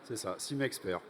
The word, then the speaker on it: Simexpert: Alors, quelques mots sur votre innovation, le Simexpert, si je le prononce bien. Oui, c'est ça, Simexpert.